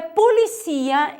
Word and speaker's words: policía: Porém, em espanhol é policia, em português é polícia, a sílaba tônica é diferente.